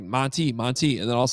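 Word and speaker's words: Montee: senior year he's like no actually my name's Monte Monte ball you guys are pronouncing it wrong this entire time and I'm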